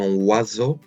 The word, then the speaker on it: oiseau: Un oiseau, think of like wah, wah, wah, wah.